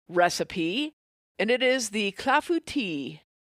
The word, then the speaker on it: Clafoutis: And it is the Clafbouti. It's a cherry fla and um it's a French dish as you can tell by the name, which it that is how it is pronounced. Clafbout tea because I have looked this up repeatedly to